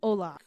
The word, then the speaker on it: hola: Oh, they're not sounded. Yeah. Like hola.